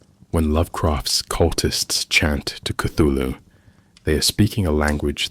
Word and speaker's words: Cthulhu: In various letters, Lovecraft explained that the name should be approximated rather than definitively pronounced, describing it as containing sounds not producible by human vocal organs, but approximated by something like clulu with a guttural quality.